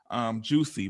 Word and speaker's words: Jewsie: And then her page is Juicy, but it's spelled JEWSIE.